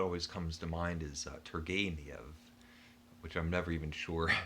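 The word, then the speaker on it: Turgenev: comes to mind is tergeniev which i'm never even sure if i get right i initially i said targanev because i'd never heard anybody pronounce it before i'd only seen it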